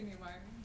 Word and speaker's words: Neumeier: And Now we have Emily Neumeier, or Neumeier. I didn't ask you how you pronounce it yourself. I say Neumeier. Neumeier, who's going to talk about an Albanian vizier's claim to antiquity in Ottoman Greece.